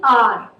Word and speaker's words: hour: If I say R, you all know 1 hour, 2 hour, 3 hours, 4 hours, R. So although it is starting with H, the H is silent, and I'm saying R.